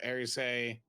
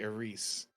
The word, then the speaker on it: Eris: Ares says that you're saying it wrong if you say Ares. Eris.